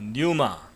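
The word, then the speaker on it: πνεῦμα: 한글 성경에는 혼동이 돼 있어서 많은 사람들이 영혼에 대해서 잘못 어 잘못된 상식을 갖고 있게 되고 어 헬라어로는 영을 어 뉴마 어라고 발음을 하고 혼는 푸시케라고 발음을 합니다.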